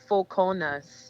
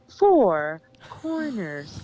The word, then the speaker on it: Four Corners: So I am from a little country town called Foconas. You have to say it like that. You can say Four Corners. It's Foconas, where the language sounds like,